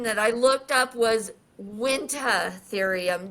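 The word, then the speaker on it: Uintatherium: But the pronunciation that I looked up was wintherium. The U is silent like the P in petrodactyl.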